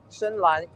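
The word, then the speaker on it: 深蓝: Shenlan is the Chinese pronunciation.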